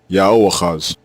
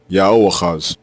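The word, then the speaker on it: יהואחז: Both forms are pronounced the same way, Yaoachaz, Yaoachaz, and it means Yao takes.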